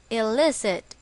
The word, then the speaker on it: illicit: or against the law it is also pronounced as elicit the stress is on the second syllable examples he had been